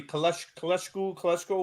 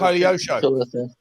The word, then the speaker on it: Koleosho: Kaleshko? What, I don't even know how to say his name. The kid that Koleosho.